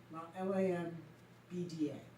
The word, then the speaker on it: Lambda: Sigma, L, Lambda, Lambda, Lambda is how you pronounce it.